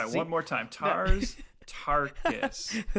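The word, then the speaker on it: Tars Tarkas: So you really have to pay attention to how like Tars Tarkum, like am I even saying it right? Tars Tarkus. Yeah. Difficult. I'm gonna try one more time. Tars Tarkus.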